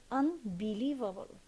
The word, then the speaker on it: unbelievable: As we said here, we have the suffix able, so we should stress the syllable that comes before the suffix. It should be unbelievable.